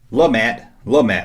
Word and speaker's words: Lumat: Lumat. I can never know if I pronounce these Ewoks names right.